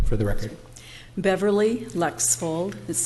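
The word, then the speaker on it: Lexvold: and follow your name for the record Beverly Lex fold is spelled be EV er ly Lex fold which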